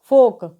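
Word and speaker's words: folk: पर भी L silent रहता है यानी अलका उच्चारण नहीं होगा एफ ओ एल के को हम क्या पढ़ेंगे लोक सी ओ यू एल दी तो जब एल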